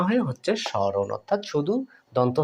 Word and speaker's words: স্মরণ: আপনাদেরকে স্বাগতম দেখুন বন্ধুরা স্মরণ এখানে কিন্তু ম ফ ফলা উচ্চারিত হচ্ছে না স ম ফলা র মুদ্রেণ এভাবে তো আছে তাই না বন্ধুরা তাহলে এখানে কি হলো সমরণ হওয়ার কথা ছিল কিন্তু তা না হয়ে হচ্ছে স্মরণ অর্থাৎ